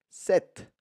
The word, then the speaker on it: cette: Mais j'écris C-E-T-T-E. 7. Mais ça a le même son que 7 masculin.